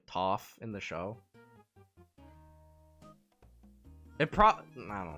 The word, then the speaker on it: Toph: I mean Aang with Katara or Aang with Toph? Or Topher and Gopher pronounced the same. Toph. No, that would be Gopher.